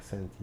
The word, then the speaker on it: Senti: Senti. How do you spell that?